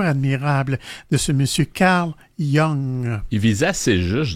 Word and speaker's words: Jung: Alors, ça s'appelle les huit types de personnalités selon Carl Young. Young, en fait, ça s'écrit J U N G pour ceux que ça intéresse.